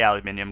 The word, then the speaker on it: aluminium: And by the way, I say aluminium because I'm foreign, and that's like the way you spell it.